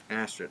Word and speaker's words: Astrid: Astrid, oh, so. There's not an R at the end? It looked like there was an R at the end. R is not pronounced.